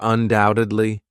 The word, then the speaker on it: undoubtedly: Doubtfully or undoubtedly. Notice the silent B there.